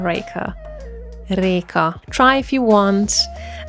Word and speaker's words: Reka: It's spelled r e k a, and most people pronounce it as Reka or Rika. It is Reka, and I'm also saying it in such a weird accent.